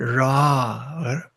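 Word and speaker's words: רע: 나쁘다고 하는 그 대칭어는 라, 그러니까 본래 라래지만 그 R 발음이 약간 가래를 긁듯이 뭐 이런 식으로 되는 건데, 어 그러니까 이것이 반드시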